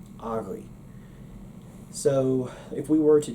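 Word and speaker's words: agaibh: Well, for the possessive term for the plural you, they use agav. Well, agav is not really a correct pronunciation.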